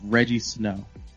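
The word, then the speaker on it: Rejjie Snow: There's this artist whose name is floating around right now, I think it's Reggie Snow, and it's spelled a really weird way.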